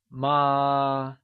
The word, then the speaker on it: mā: Ma means mother, but ma means horse. So, if you don't say the word right, you'd end up calling your mother a horse and land into big trouble.